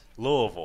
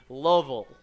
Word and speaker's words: Louisville: with the pickoff attempt Louisville I went with the native pronoun to syllable Louisville Fitzgerald over to today